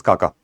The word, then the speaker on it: Xaxa: the Kaka committee basically though it is written as xaxa it is pronounced as Kaka the Kaka committee report